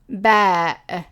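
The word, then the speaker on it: باء: And the name of this letter is baa. Baa. The sound of it in modern standard Arabic or informal Arabic is b. B.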